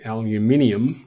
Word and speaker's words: aluminium: for the steel and the aluminium as we pronounce it over here um it is there